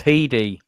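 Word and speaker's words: Headey: of a man-hating personality so pronounce hedi by the way hey ah yeah yeah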